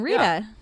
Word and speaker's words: Rita: calls me that ridda ritta like brita like the brita water filter rita ritta rita that's how you say my name rita yeah but but some